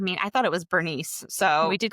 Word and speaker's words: Berenice: So I've heard some pronunciations of Berenice's name as Berenike. I mean, I thought it was Bernice.